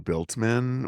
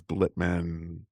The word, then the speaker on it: Blitman: yes I will often get biltman which again is moving the L it's just it is blitman just move just put it back where it's suppos to be like if somebody's misspelling